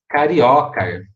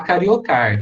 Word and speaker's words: carioca: caroço brasileira a tradução ea pronúncia gente fica carioca né nada de falar cariocar tá gente cariocar tá errado não pode ser oxítona é carioca brasiliense então com essa